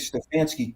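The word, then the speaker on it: Stefanski: a style that Zach introduced and I think Stfansky couldn't introduce it because he was he had no quarterback.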